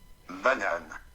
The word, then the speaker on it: banane: Banane. So see, it tells you that's called banane in French, and then it even pronounces it for you.